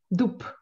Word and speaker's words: дуб: Я пишу дуб, но говорю дуб.